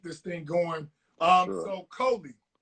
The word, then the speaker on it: Colie: Hope everybody make sure you pronounce his name right. His mom is gonna kill you. His name is Colie.